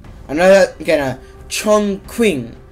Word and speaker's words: Chongqing: Chongqing, because the Q is a king. Okay, well, the Q is like a K, but with a silent, not really a silent, but like a Q sounding K, if you get what I'm saying.